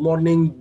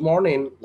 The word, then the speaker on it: morning: على فكرة morning الجيم ما بتتنطق تخيلوا. قعدنا 100 سنة نقولها good morning جيج. هذه مرة غلط. Good morning like that.